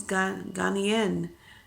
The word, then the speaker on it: Ghanaian: She's Ghanaian. That's how you pronounce it.